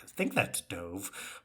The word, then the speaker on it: Dov: ex-boyfriend professor's name, like Dove or whatever. It is Dove. He. From the audiobook. That's where the audiobook comes in handy. It's like D-O-V. I'm like, I think that's Dove.